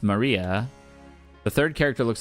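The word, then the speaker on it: 真里亞: Of course, that is pronounced Maria.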